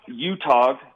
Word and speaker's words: UTOG: is it pronounced utah og or utah or utog it's a brewery up there in ogden yeah so it's it's it's pronounced utah basically it's utah ogden brewery okay um up